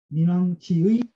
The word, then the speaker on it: 湣王: 어두울 혼자인데 어지러울 혼자인데 이게 시어로 쓰면은 우리가 민이라고 있는 것 같아요. 민이라고 읽어요. 그래서 제 민왕을 이 민자를 쓰기도 하고 이 어지러울 혼자를 써서 쓰기도 하는데 읽는 거는 이제 민으로 읽어야 돼. 이게 맞는 것 같아요. 지난번에 제 혼왕이라고 읽었던 것 같은데 제 민왕으로 읽으시면 돼요.